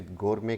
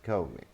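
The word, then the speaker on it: gourmet: हम इतना तो कर लेते हैं कि हम इसे गोर में कह देते हैं, बट in fact the original pronunciation is गो में, गो में, गो में। सो आर साउंड भी इसमें साइलेंट आ रहा है और ट साउंड भी साइलेंट है, सो we should avoid it.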